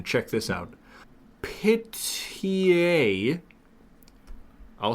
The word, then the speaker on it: Pihtije: Pitié. I'll spell that for you. Pihtije. Oh. Pitié, a Serbian dish made from cheaper parts of pork, such as the head, shank, or hock.